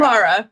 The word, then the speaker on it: Lara: Laura, am I saying it right? Lara or Laura? Lara, yep.